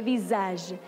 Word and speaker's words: visage: Y como se escribe con una sola S, suena como Z, le visage.